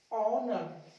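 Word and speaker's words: honour: H silent कुछ words के शुरू में, कहां पे, कुछ वर्ड्स के स्टार्टिंग में आपको एच को साइलेंट रखना है। देखिए इसको पढ़ेंगे हम लोग आवर, एच साइलेंट हो जाएगा आवर, honest, ऑनर, एयर, एयर, ऐसे ही ऑनरेबल। ये आपको कुछ वर्ड्स के स्टार्टिंग में जो एच आता है ना उसको साइलेंट करना है।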